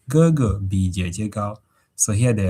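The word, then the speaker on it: 哥哥: If you're new to class, just listen how we pronounce these words and you repeat. So this is elder brother, and say Gogo.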